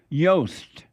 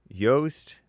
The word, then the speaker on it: Joost: Yoast. Yoast, which is spelled J O O S T.